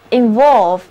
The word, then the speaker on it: involve: Involve, INVOLVE.字母 O 要读作 O， VOLVE 是词根，表示卷， in 表示进入，所以合在一起 involve 就是卷入或者牵涉包括的意思。单词的重音在第二个音节 involve。